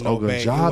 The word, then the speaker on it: Ogunjobi: Okay, so it's Ogunjobi.